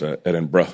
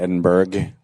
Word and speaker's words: Edinburgh: say it too is Edinburgh, like how Edinburgh, how Edinburgh. assholes in America yo, what's up, bro? Yeah, that's how you Edinburgh. say it here. Or assholes in America call it Edinburgh.